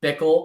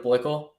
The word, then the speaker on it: Blickle: Listen, I hear Bickle all the time instead of Blickle.